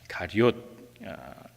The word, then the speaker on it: 가리옷: 가롯 유다, 발음이 좀 어렵습니다. 가롯도 아니고 가리옷입니다. 가리옷, 이 가롯이라는 말은 우리 영어 성경엔 이스카리옷이라고 되어 있습니다.